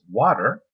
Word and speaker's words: Watir: a t r um is pronounced as water um now um now